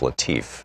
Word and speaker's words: Latiff: Our book today is Future War, Preparing for the New Global Battlefield by Robert, I believe it's pronounced Latiff, L-A-T-I-F-F.